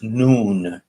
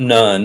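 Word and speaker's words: نون: uh well in Arabic the letter N is pronounced noon okay so this is not nun it's written like nun like Joshua son of nun but this is noon it's pronounced noon and uh but what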